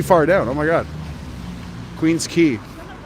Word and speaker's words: Queen's Quay: oh okay down to queen's quay usually to to really that's really far down oh my god queen's key queen's key it's pronounced i think okay queen square what's